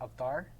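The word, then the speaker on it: Avtar: yeah yeah name is avatar or sometimes there's like some kind of story to that well it's in Punjabi it's pronounced off dark and yeah so they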